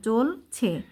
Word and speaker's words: জ্বলছে: আকাশে দবদব করে জ্বলছে এই যে বর্গিয়া জ তারপর বয় সংযুক্ত এখানে বর কোন উচ্চারণ হবে না জ্বলছে সুখ তারা পরিচিত বন্ধুকে